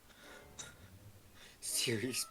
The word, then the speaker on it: Sirius: Like spelled like serious, like the word serious.